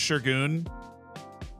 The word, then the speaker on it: Segun: Segun's pronounced Shergoon.